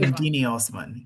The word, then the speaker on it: Dini Osman: Please um correct my pronunciation of your last name. Dini Osman. Yes, Denny Osman.